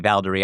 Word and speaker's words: Valderie: So as you mentioned, as you pronounced that for me, Valderie, I remember because the chorus is kind of Valderie, Valdera.